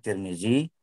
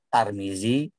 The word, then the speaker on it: Tirmidzi: sahabat nabi perawi Hadis ada yang namanya Tirmidzi Tarmizi turmudzi boleh bacanya orangnya dia-dia riwayatkan Ayu